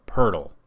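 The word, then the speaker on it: Poeltl: to this name but i believe it's pronounced jacob purdle now if i'm correct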